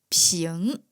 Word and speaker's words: 苹: The characters are different, but the pronunciation is the same. the 萍 for 苹果 and the 平 for 平安，are both pronunced píng So, Chinese people give apples to their friends on Christmas Eve .